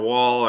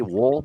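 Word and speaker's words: Woll: but we'll starting or wall or however you pronounce it I'm not sure yet but um w-o-l-l some people say wool but uh it's wall to me yeah yeah the um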